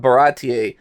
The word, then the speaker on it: Baratie: When that episode dropped, I was that day years old when I realized that it's pronounced Baratier, because the whole time I was calling it Barati.